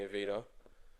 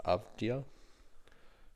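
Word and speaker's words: Avdija: I have um at 10 I had actually Denny Avita I think from March. You butchered that on. Did I How do you say it? I'm pretty sure it's pronounced abdia.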